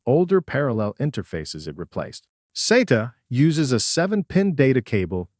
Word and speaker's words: SATA: Let's begin with serial advanced technology attachment commonly pronounced SATA.